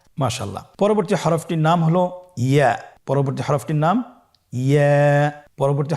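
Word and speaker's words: ي: ইয়া উচ্চারিত হয় জিহ্বার মধ্যখান তার বরাবর উপরে তালুর সঙ্গে লাগিয়ে উচ্চারিত হয়।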